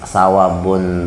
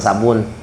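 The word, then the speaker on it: ثواب: amun urang nah madahakan sawabun tu isim kana li Makanya sawabun bacaannya jangan sabun kan sabun ada di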